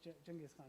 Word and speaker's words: Genghis Khan: Genghis Khan is actually the correct pronunciation.